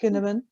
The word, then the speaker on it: Cynefin: It's a Welsh word. Cynefin, pronounced Kinevin, and it talks about from the simple to the complex types of environments.